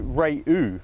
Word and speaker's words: Rieju: new and it's from Raju who's a Spanish company but they pronounce it Ray ooh because there's no J in Spanish anyway this is the